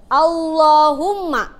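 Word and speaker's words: اللهم: Kalau misalkan contohnya seperti ini, Allahumma, itu bacaannya tebal. Kenapa bisa tebal? Karena ada lafaz Allah, sebelumnya ada harokat apa ini? Domah ya. Jadi dia dibacanya tebal.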